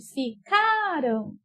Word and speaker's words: ficaram: Ficaram. É o K. Então, quando ela está no passado, ela é uma paroxítona, porque a sílaba mais forte é a penúltima.